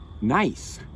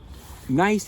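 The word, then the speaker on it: gneiss: up with is some nice now it's nice to pronounce nice even though it isn't spelled that way you want it it's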